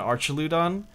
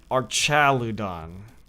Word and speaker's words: Archaludon: I didn't realize I was saying it wrong the entire time. I've always been calling it Archaludon, but it's called Archaludon.